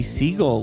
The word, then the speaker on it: Siegle: say hi hey now I hope I said your name right I guess could be pronounced another way so you can tell me if I'm wrong it's fine that's perfect alright do you want